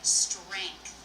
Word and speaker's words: strength: I think I usually say strength with the a sound. Now, you can make a K sound strength or you can leave it out. You'll see both pronunciations in the dictionary.